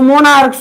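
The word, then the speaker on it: monarchs: है, तो यहां भी सी एच का मतलब क आया है, तो मोनार्क्स हो जाएगा, क्या हो जाएगा, मोनार्क्स हो जाएगा।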